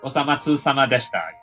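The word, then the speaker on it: お粗末さまでした: I was just wondering, how do you pronounce this Japanese again? Osama something. I'm sorry. Osamatsu sama deshita something. Yeah, Osamatsu sama deshita.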